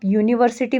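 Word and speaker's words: university: भले ही यहां पे आगे से यू एक वोवेल आया हुआ है बट उसकी साउंड जो है कसोनेंट साउंड है इसलिए हमने यहां पे ए लगाया।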